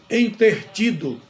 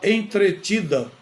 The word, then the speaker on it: entretido: inadequado o verbo entreter muita gente diz que está entertido com alguma coisa na verdade a pessoa está entretida com alguma coisa eu estou